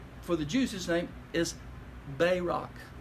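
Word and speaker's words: Barak: the juices thing is Bay rock by rock accent on the first syllable they Rock that's his name and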